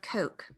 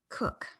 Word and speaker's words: Coke: man named sir edward coke excuse me cook i'm mispronouncing that it happens often it is it looks like coke the drink but it is cook sir edward cook in